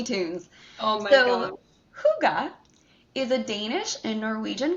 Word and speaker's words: hygge: Looks like it should be hygge, but it's actually pronounced hygge. I looked it up. Not hookah, y'all.